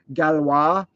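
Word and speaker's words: Galois: that I gotta mention galwa g-a-l-o-i-s however you want to pronounce it and uh that guy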